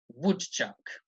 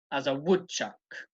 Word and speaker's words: woodchuck: and this time woodchuck I am putting the emphasis on the wood so on the first syllable there are two syllables I'm emphasizing the first one okay woodchuck would chuck he would Chuck woodchuck ok so just remember